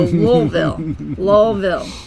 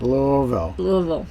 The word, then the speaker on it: Louisville: So Louisville. Just pretend you have it's like 4 syllables long. That's right. Louisville.